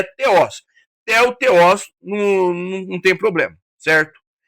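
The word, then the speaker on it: θεός: A palavra para Deus aqui é theos, certo? Nós falamos theo no português, mas a pronúncia correta é theos.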